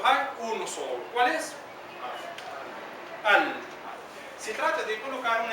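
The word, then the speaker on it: ال: Al. Se trata de colocar una alif y una L. Alif y L. Y se pronuncia al.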